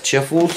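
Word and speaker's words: Chifles: It's from Schiffels, I think that's how you pronounce it, Schiffels? Schiffels. Let's see. It's four crunch above the rest. But, yeah, it's C-H-I-F-L-E-S. Chiffles.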